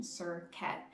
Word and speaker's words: Serket: the deities, and the same thing goes with Serket. You can see her name being spelled a different ways, but it's all really coming down to the pronunciation, Serket.